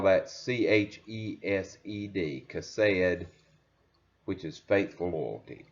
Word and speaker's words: chesed: But Ruth, Naomi, and Boaz all demonstrate Chesed, faithful loyalty. Chesed is the Hebrew word. You would spell that C-H-E-S-E-D, Chesed, which is faithful loyalty.